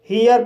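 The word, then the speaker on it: here: जैसे एच को हा पढ़ा जाएगा, ई को ई आ पढ़ा जाएगा, आर को रा पढ़ा जाएगा और ई साइलेंट रहेगा। इस तरह से हियर पढ़ा जाएगा और हियर मीन्स यहाँ।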